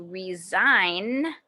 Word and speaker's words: resign: letter is silent h paula doesn't like her job so she's going to resign resign and look for a new one that's the letter g the writer received an